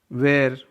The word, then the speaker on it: where: वेयर, WHERE. W उसके बाद H तो H साइलेंट. वेयर.